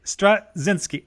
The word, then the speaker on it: Straczynski: Well, yeah, the C is silent, I believe. Thank you, Straczynski.